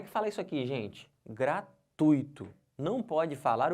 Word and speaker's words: gratuito: tui como sílaba tônica eu não posso separar gratuito não posso fazer isso não senão vou pronu nciar errado então certo é gratuito tá bom Aqui Onix